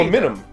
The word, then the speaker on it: aluminum: aluminum. I will say that's Sure. fine. Sure. Aluminum. That's fine. British people, you're all wrong. You're adding a letter. You're Adding an an extra entire vowel, syllable.